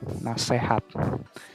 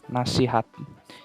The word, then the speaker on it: nasihat: lihat paling atas ada contoh kata tidak bakunya adalah nasehat sementara kalau contoh yang sebenarnya harus digunakan itu contoh kata bakunya adalah nasihat jadi ini merupakan kesalahan dalam pengucapan Oh ya yang terjal yang